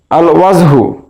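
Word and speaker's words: الوجه: আল হুরফুল শামসিয়া আল আল ওয়াজহু আল ওয়াজহু এর আলিফ লাম উচ্চারণ হচ্ছে তাহলে এটাকে আমরা বলতে পারি আল হুরুফুল কামারিয়া আস সিদ্দিকু আস সিদ্দিকু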